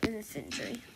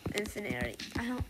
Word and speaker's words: infantry: The infantry. Infinary. I like calling it infinary, but it's not how you say it right.